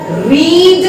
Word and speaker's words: read: रीड, रेड, रेड. Spelling will be same, भूलना नहीं है बिल्कुल.